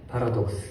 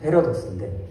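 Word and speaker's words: paradox: 그것을 오늘 설교 제목인 파라독스, 정확한 발음은 패러독스인데 그 모순이라는 말입니다.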